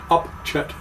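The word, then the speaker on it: Upchit: over there, that is, it's spelled U-P-C-H-I-T, Creek. Not S-H, it's C-H, Upchet Creek. Up Shit's Creek. Yes. So we're not actually swearing, but it sounds like it.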